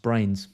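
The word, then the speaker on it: Bruyns: um brains says surname is pronounced brains yeah i said it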